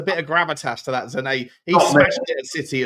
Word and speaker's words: Sané: Apparently, Bayern Munich have offered Leroy Sane or Sané, apparently. I've been saying his name wrong for a year. Leroy Sané.